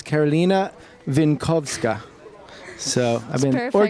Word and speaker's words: Karolina Winkowska: So actually, people were hassling me because I wasn't pronouncing your name right. So now I've got it down. It's Karolina Winkowska.